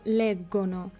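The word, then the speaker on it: leggono: এখানে দেখুন প্রথমটা ইও লেগ্গো, জি এর সাথে ও হওয়ার কারণে গয়ের মতো উচ্চারণ হয়েছে, এবং লাস্টেরটা লরো লেগ্গনো, জি এর সাথে ও হওয়ার কারণে গয়ের মতো উচ্চারণ হয়েছে।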